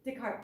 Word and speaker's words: Descartes: You know that old, I can never pronounce his name correctly, I'm going to mispronounce it. Is it Descartes? What is it? Descartes, thank you.